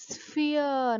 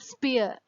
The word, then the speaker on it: sphere: This is sphere, not spear. You have to pronounce like sphere.